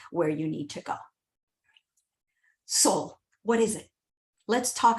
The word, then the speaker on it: Solle: it's uh best way it's correct pronunciation is soul like your soul so not solely uh not any other